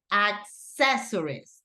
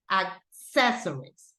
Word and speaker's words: accessories: all of these are accessories okay that is the pronunciation accessories the stress syllables goes right here accessories okay so we have